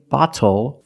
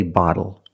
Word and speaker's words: bottle: And we do not say bottle, we say bottle.